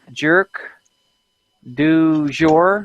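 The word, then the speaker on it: Jerq du Jour: I think her name is Jerk du Jour or something. It's spelled like JERQ, separate word DU, separate word, what did I say it was? Jerk Jour? du Jour, JOUR.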